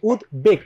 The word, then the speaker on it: উদ্বেগ: এটার মধ্যে দেখো এই এটার মধ্যে কিন্তু ব ফলার উচ্চারণ হচ্ছে যে উদ্বেগ উদ্বেগ না কিন্তু উদ্বেগ